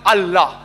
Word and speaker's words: Allah: that I L A but when you pronounce it we have to tell them pronounce it as Allah hope that's the question